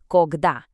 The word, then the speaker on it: Когда: This word has 2 syllables, and you're going to want to put the stress on that second part. Listen. Когда.